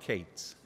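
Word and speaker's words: Katz: can do so uh for those i'm cates uh k-a-t-z which is the correct pronunciation everybody else gets it wrong and for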